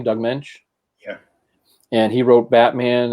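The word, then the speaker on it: Doug Moench: Is that how you pronounce the name, Doug Mensch?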